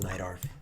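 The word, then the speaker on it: Najdorf: No, it's pronounced Neidorf because my queen's trapped.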